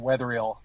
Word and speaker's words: Wetherall: name for me before we joined sure I'll pronounce it for you it's weatherill very cool and you are Developer evangelist correct